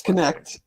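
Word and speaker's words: Knecht: 27 again tonight Dalton connect is that his name yes connect connect I don't know how to pronounce yes connect MH yes like Connect Four that's how you pronounce it yeah K NE e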